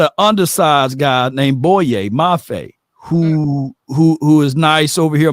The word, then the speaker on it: Boye Mafe: Mafe? Boye Mafe.